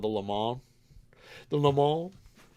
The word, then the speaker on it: Le Mans: The Le Mans. I'm happy you pronounced it that way because my Mans. pronunciation was not going to be as good.